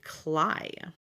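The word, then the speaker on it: Claidh: Um her dragon here, I had to look it up, is apparently pronounced actually Clai. So, that D and the H are not there.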